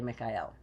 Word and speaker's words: Michael: of Archangel Michael and that's pronounced actually Mikael the prince of Heaven